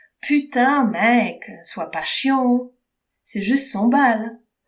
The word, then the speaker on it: chiant: Mais chiant, le mot chiant, pas chien, chien c'est un animal, ok? Chiant, ça se prononce chiant.